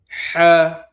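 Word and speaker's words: ح: সা একেবারে পাতলা করে পড়তে হবে।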